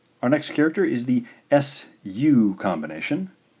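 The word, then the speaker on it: す: Our next character is the SU combination. SU, of course, that gives us the sound su, su.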